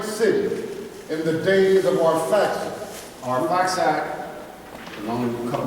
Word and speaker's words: Arphaxad: This was our father Shem's son, Arphaxad, is how his name's pronounced here.